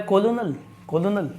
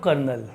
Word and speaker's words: colonel: है, ये लिखा है कोलोनल नहीं, ये लिखा है दोस्तों कर्नल। क्या लिखा हुआ है, कर्नल। याद कैसे करी जाएगी स्पेलिंग, COLO, ये आपको याद करना है, COLONEL, ये 2 टुकड़ों में याद होगी स्पेलिंग, COLONEL, कर्नल। ठीक है, COLONEL, कोलोनल, बोला नहीं जाएगा कभी आप वहाँ बोल दे कोलोनल, कर्नल क्या है, कर्नल, COLONEL, ये होगी हमारी कर्नल।